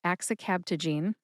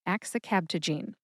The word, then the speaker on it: axicabtagene: it is axicabtagene, and axicabtagene has 5 syllables. That's axe, like the tool that you use for splitting wood, axe, I, which is a short I sound, like the I in the word president, I, cab, like a taxi cab, ta, like Tabasco, and gene, as in gene therapy. Put all 5 syllables together and you get axicabtagene.